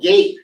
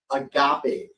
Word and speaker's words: agape: who even knows what this word is a Gap a gate even better no it's not a gate and it's not a gap AAP this is a Greek word called Agape is how it's pronounced agape and based on the